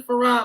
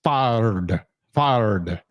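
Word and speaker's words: Fard Muhammad: and start calling Master Farad Muhammad something different. And the different that he's talking about is instead of Farad is far far you know the way that is actually spelled.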